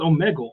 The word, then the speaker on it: Omegle: wild stuff but these I think it's Omegle I think that's how you say it